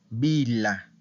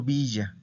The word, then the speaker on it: villa: una palabra femenina singular Okay Vila Entonces no estoy diciendo Villa Okay escuchen que no estoy diciendo Villa estoy diciendo la Vila Entonces como comienza con